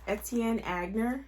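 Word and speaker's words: Etienne Aigner: And then the last handbag was Etienne Agner, I believe is how you say it, brand new with tags.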